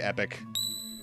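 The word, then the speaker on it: Epoch: epic or ad hoc I usually say epic yeah epic is the way I pronounce it but before we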